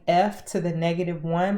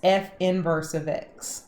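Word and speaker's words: f⁻¹(x): And the inverse notation is going to look like f to the -1, but that's not how you say it. It's f inverse of x, okay?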